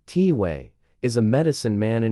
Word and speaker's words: Tai: likable and warm one of them Tai we pronounced tiway is a medicine man in his 60s and